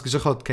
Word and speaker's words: grzechotka: How to pronounce grzechotka in English?